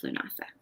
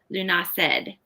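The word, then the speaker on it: Lughnasadh: August Eve and Garland Sunday, and of course Lunasa. Or Lunased. I think some people call it Lunased in some places. I saw that as one pronunciation.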